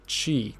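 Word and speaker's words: χ: Oh, it's pronounced Chi.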